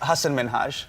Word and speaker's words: Hasan Minhaj: Well, my name is Hasan Minhaj.